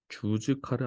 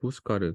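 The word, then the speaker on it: Júzcar: 자, 이거 주즈카르 아니고 후스카르 그 스페인어로는 J가 히읗 발음 난다. 자, 그리고 Z는 S랑 발음이 거의 똑같고 C는 우리말의 그 요거 쌍기역 느낌이라고 하면 후스카르 이런 발음이 나는데 어줍지 않은 스페인어 실력을 발휘할 좋은 기회였네.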